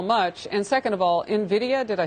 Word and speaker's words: Nvidia: down on how much and second of all nvidia did i say it right it's nvidia harris and you're right it is in the